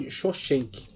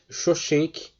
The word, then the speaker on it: Shoshenq: exércitos egípcios comandado por, aqui está como Shoshenq. Tem outros lugares você lê Sisaque. O autor aqui está tentando passar para nós a pronúncia mais próxima do que era, né, no original. Shoshenq, este faraó, o fundador